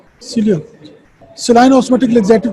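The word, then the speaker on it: psyllium: ई silent है यहाँ पे, सीलियम।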